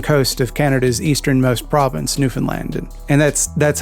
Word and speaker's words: Newfoundland: John's on the eastern coast of Canada's easternmost province, Newfoundland. And that's how you pronounce that, by the way, not Newfoundland or Newfoundland or Newfoundland.